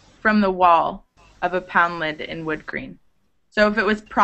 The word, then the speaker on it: Poundland: But when it's at the end of a place like this, it's pronounced more like lend, poundland, Newfoundland.